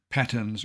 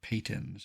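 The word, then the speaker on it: patens: Wildflower pulsatilla Pon well you could say patons or Pon as you please I'm giving you the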